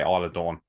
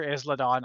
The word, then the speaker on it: Isla Dawn: Alba Fire and Isla Dawn, which by the way, Isla Dawn, wow. Michael Cole called her Isladon on air. He didn't know how to pronounce it.